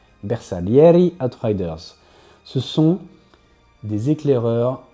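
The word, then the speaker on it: Bersaglieri: Et enfin les bersalieri, ça doit être italien donc je prononce pas le L, je crois. Ah, je crois que c'est Je crois que c'était Bessa. C'est B. Bersa Leriy Outriders.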